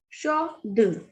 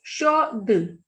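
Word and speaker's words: chaude: Shod. Here D is not at the end. The last consonant, the last vowel is E here. So we will pronounce this D. This is shod.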